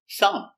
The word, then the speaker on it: thumb: dentist very good example thumb silent B thumb this is my thumb